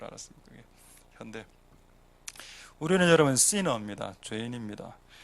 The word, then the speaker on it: Hyundai: 그 당시에 그 차에 대해서 우리가 잘 모를 때 버스를 타고 가면 항상 차 앞에 트럭이나 승용차 뒤에 HYUNDAI 현대 아닙니까?